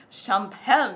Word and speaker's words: champagne: They have this champagne color. Oh, that is. The French don't have a solid G in their pronunciation of champagne.